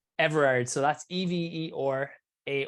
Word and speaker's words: Everard: is how do you say your last name everard so that's e-vee or a or D Pilates